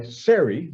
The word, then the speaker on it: Sari: is wait for god to notice it's by sari that's how she pronounces her name fordham and this book is